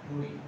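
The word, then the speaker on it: তোড়ি: সকালবেলার জন্য ভৈরব, আহির ভৈরব, নাথ ভৈরব, ভৈরব, আহির ভৈরব, নাথ ভৈরব, টরি, টরি, হ্যাঁ, দয়গার দয় রশ্মি দিয়ে দেখে আসলে দয় শূন্য রয়ের মতন উচ্চারণ হয়, টরি।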